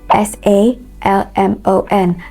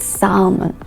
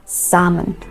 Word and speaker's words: salmon: okay could would should another word would be s a l m o n that word is not salmon okay it's correctly pronounced salmon salmon not sermon by the way those or